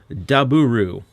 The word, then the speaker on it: Daburu: out so this is daburu which might sound like a weird name unless you've watched a few Common Rider series yep just like double uh daburu is uh a lot of Japanese accent on the letter W so his name is literally double just with a Japanese accent that's the gimmick they